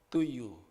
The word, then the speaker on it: Tuju: Karena itu ejaan lama, tapi kalau baca setiap detik saudara baca to you.